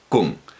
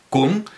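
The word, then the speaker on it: !Kung: Kung, los Kung, es decir, con un clic retroflexo, no un chasquido, sino un clic retroflexo. Bueno, pues los ñañaes son un grupo dentro de los Kung, y este informante Kung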